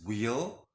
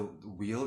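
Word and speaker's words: Wehl: incantation, and for the Demon Duke Bune, it's wheel. Again, you can spell it out however it sounds to you, but just to give you an idea, the wheel is W-E-H-L.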